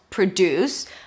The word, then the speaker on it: produce: So the first syllable is a schwa. Second syllable is stressed. Deuce. That's the primary stress with an oo as in food.